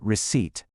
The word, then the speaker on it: receipt: How about the English word receipt? This one can be tough because it has a silent P in the middle and many people forget